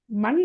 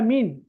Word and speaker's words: من: இல்லம்மா விடைய சரியாத்தான் சொன்னா ஆனா உச்சரிச்சது பில மண் அல்ல மீன் மீன் சரியா விளங்கின மாதிரி சரியா